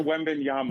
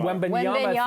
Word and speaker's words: Wembanyama: Victor Wembanyama. Wembanyama.